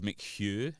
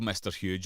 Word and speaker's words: McHugh: go yeah my surname is mchugh m-c-h-u-g-h and um people trying to pronounce that who've never i get called mr huge a lot and well thank you